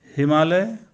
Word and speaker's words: हिमालयः: हिमालय को संस्कृत में कहेंगे तो उच्चारण ऐसा होगा, हिमालयः भारत देशः महान अस्ति भारत देश महान है।